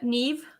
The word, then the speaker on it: Niamh: right but i did not remember is it nev yeah no me name me how they pronounce it maybe it was i i don't